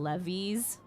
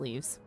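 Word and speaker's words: leves: leav leaves yeah leaves they're oh do you pronounce them levies do you pronounce them levies leaves yeah the crafting leaves yeah l e v s yep mhm it's actually pronounced leaves yes it's actually pronounced leaves oh my God Cav is actually here on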